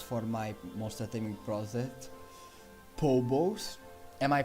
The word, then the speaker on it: Pobos: my monster taming project Pobos. Am I pronouncing right? Pobos? I think it's catchy. Sounds funny. Pobos. But just confirm to me please if I'm pronouncing it right. Like Pob and the Bows.